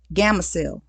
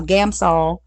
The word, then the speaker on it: Gamsol: Then when I went through the smoothing out process, I used um Gamma. I always add an extra syllable in there.